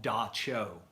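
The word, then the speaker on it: Dab Tsog: It's not spelled anything like it sounds. Like it starts with a T, like Tsog, but it's called Da Cho, is how they pronounce the name of it.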